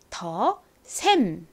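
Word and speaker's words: The Saem: 더 큰 글씨로 볼게요 앞에 th 어떻게 읽는다고 말씀드렸죠는 드 소리가 나고이는 어 소리가 나서 더가 되죠 the 자 다음 saem이 왔는데요이 단어는 영어 단어가 아니라 한국어 단어를 영어로 표기를 한 이름입니다 그러니까 한글의 영어 표기법을 생각을 하면서 읽어 봐야겠죠 한글에서로 표기가 되는 것은 옷을 S 표기를 하죠 다음에 ae 왔는데요이 ae 한글 모음 어떤 모음의 표기법인요 한글에를 이렇게 ae 표기를 합니다 마지막은 미음 이죠 그래서 읽어보면 더샘이 됩니다 더셈 전에도 말씀드렸지만 저희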